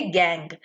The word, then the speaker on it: gangue: इसकी इंग्लिश की स्पेलिंग होती है GANGUE, ठीक है, गैंग।